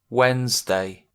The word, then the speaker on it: Wednesday: in this day diy so it's like that d doesn't exist yeah wednesday yesterday right